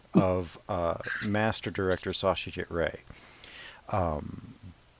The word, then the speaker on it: Ray: uh master director sausage ray um as far as i know it's ray but is it rey or right that's probably englishification of it both ways it's kind of um right um americanization i have to go